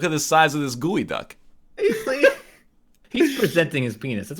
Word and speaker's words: geoduck: 140 years oh right it's pronounced gooey duck yeah PRC gooey duck that's not how English